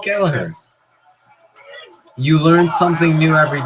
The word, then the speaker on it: Gallagher: Holy So it's pronounced Gallagher.